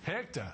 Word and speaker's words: Hechter: largest alternative funding source for small business Hector or is it heter the managing director of GE pronunciation heor or Hector Hector okay now tell us about interface the